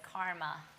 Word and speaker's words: karma: You might know it as karma. It's pronounced karma, and very precise.